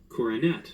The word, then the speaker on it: coronet: so I was right corette so the second o is aw it's called the schw E I didn't learn much